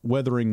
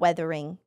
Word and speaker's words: Wuthering: Wuthering, not weathering. I've been trying to pronounce the U more harshly because people were making fun of me. Wuthering Waves. Because I say Wuthering Waves, which it is a U sound, but I think it sounds a little bit more like an I sound. So it sounds like withering.